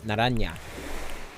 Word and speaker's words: naranja: Naranja. Media naranja. Not that I know of. My professor just shared that it's... What the heck? Naranja is how it's pronounced.